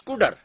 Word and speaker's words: cdr: The second major operation is CUDR. It is pronounced, though it is written as CDR, it is pronounced as CUDR.